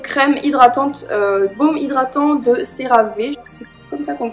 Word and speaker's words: CeraVe: Il y a aussi cette crème hydratante, baume hydratant de CeraVe, c'est comme ça qu'on le prononce.